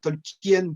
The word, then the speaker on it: Tolkien: J'aurais pu dire Tolkien, Tolkien qui sonne presque comme King à la fin de Tolkien, on le prononce.